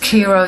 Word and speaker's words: Chi-Rho: Cairo, pronounced Kiro, similar. The Chi is the X and the Rho is the P.